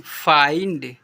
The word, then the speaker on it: find: Example पर MIND माइंड, CHILD child, FIND फाइंड, यहाँ पर क्या लिखा हुआ है WILD वाइल्ड ऐसे पढ़ते हैं, ठीक है।